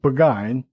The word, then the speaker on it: Burgoyne: Nutting had a famous foxhound named Burgoyne, he pronounced it Buggine, which my informant used to borrow.